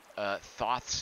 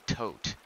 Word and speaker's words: Thoth: Hazy Silhouette says that Thoth's name is pronounced Tote. No, Hazy Silhouette, there are H's in there. They wouldn't just put an H in there for no reason. It's obviously Thoth. Like Azathoth, right?